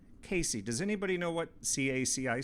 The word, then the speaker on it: CACI: this is a jury instruction from caci pronounced casey casey does anybody know what